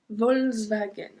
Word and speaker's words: Volkswagen: We don't pronounce the K. Volkswagen.